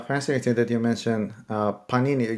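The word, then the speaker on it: Pāṇini: that you mentioned uh Panini you said that we put the stress on the first Sy I didn't know that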